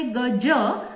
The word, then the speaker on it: गज: एक शब्द आहे गज आणि दुसरा आहे गज. म्हणजे गज या शब्दामध्ये ज चा जो उच्चार आहे तो तालव्य आहे, आणि गज या शब्दामध्ये ज चा जो उच्चार आहे तो दंतमूलीय आहे.